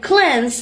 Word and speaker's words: cleanse: Meander equally the same with mean, and cleanse is not pronounced as clean.